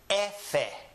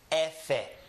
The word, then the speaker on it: efe: Be, se, che, de, e, efe. The name of this letter in Spanish is efe. Repeat after me. Efe. In English, of course, we call it an F.